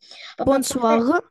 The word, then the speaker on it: bonsoir: У нас буква R читается как украинская Г. Надавлено. Очень сильно надавлено. Bonsoir.